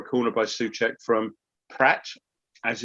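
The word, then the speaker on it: Praet: That's how it's pronounced, is Pratt.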